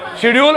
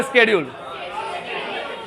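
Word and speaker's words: schedule: जैसे एक वर्ड होता है वो अपन बहुत यूज करते हैं, शेड्यूल और स्केड्यूल, दोनों ही सही है। शेड्यूल भी सही है, स्केड्यूल भी सही है, वेंसडे ही सही है बस।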